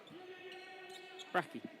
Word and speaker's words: Bracchi: Bracchi or Bracci? Bracchi. Bracchi.